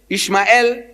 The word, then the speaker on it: Ishmael: I says, in the book of Genesis, the first book of your Torah, no less than 12 places, Ishmael, that's how they say it.